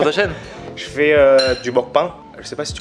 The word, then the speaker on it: mukbang: Et donc on le prononce mukbang.